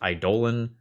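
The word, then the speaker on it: eidolon: And as a quick aside here, uh, note that super super literally based on the Greek pronunciation of the word, the word idolon is pronounced idollan.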